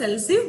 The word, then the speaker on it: elif: If you want to check the another condition, you can go for else if, that is else, we pronounce else if, but it is ELIF.